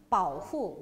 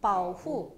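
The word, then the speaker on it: 保护: 중국어로 발음 어떻게 해요? 바오후. 어떻게 해요? 바오후. 어떻게 해요? 바오후.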